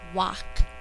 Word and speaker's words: wok: It's wok, as in the frying pan that you use for stir fry.